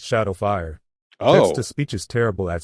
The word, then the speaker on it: XSH4D0WF1: Just wanted to say, it's pronounced Shadowfire.